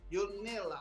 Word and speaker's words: Yonela: much for coming on the show let me pronounce the name very correctly it's called your nailer is that correct yeah yes perfect all right